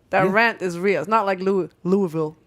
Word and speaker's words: Louisville: rent is really with Louisville how do you say Louisville in Louisville I just say Louisville Louisville but also you'll catch me say Louisville oh I say Louisville I like Louisville a perfect Louisville I learned how to